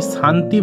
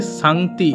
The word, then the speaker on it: Sangti: অনেক জায়গায় আমি শান্তি ভ্যালি বলেছি। এর ইংরেজি স্পেলিংটা হচ্ছে সাংতি। এস এ এন জি টি আই।